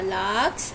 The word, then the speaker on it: lark: Now we are going to start our second chapter, the lark's nest. In larks, R is silent. We pronounce lark.